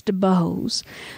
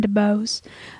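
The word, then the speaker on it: Dubose: whose name was julius de bose um mr jubilee no it's spelled d-u-b-o-s-e uh usually it's an eye but anyway it just depends yeah anyway i'm saying to bose um but mr julius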